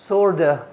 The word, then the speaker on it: sort of: طبعا اتفقنا مش هينطقوا بالشكل ده، لكن هيعملوا reduction ل sort of هتبقى sorta sorta.